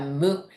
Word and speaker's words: む: three that's a d so this is the mo you can think of it like snails Mo